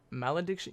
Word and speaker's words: Malediction: this Mel addiction metal addiction it's Mel addiction yes Mel addiction malediction yes so now diction I'm